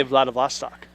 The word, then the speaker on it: Vladivostok: I butchered that. Maybe give like a hyphenated, like, how to say I'd it. say Vladivostok.